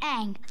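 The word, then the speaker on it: Aang: so what's your name Ang that rhymes with mang and you've got some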